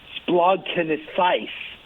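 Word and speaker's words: σπλαγχνίζομαι: They invented a word and I'm going to pronounce it here. The word in Greek is splagchnizomai.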